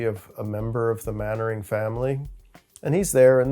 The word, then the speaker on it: Mainwaring: The one example from the Middle Ages that immediately springs to mind is an English noble family named Mannering. It's spelled Mainwaring, but it's pronounced Mannering.